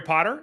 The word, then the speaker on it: Potter: My name is Potter. Yes, it rhymes with the Boy Wizard, host of the Social